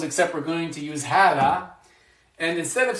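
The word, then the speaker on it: هذا: Hada, which means this. It's the masculine form of this. Hada. And there's like a dagger alif here. There's like a hidden alif. So it's pronounced hada.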